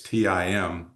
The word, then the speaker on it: Timonier: laughed at it because when you spell Timonier, it's Timonier. So my name Tim was still involved in the name of the firm, but you just couldn't hear it in the pronunciation of it.